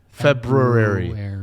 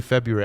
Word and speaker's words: February: Why is there an R in there? February. But we all say February, and I can't do it.